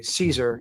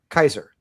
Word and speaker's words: Caesar: Um it's the reason we we say Cicero instead of Kikero. It's the reason we say Caesar instead of Kaiser. But in German they do say Kaiser, right?